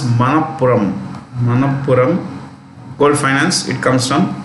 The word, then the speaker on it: Manappuram: Manappuram Gold Company, yes, Manappuram Gold, it's pronounced Manappuram Gold Finance, it comes from Thrissur.